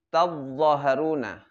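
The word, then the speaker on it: تظاهرون: Iya, namanya jika ada tak sukun, lalu setelah itu ketemu dengan huruf dha, maka itu udghimat ta'u, diidghamkan apa ta kepada huruf dha. Jadi tadzaharuna. Seperti apa bacanya tadi?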